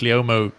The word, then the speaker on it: Leomo: I don't even know if I pronounce Leomo correctly.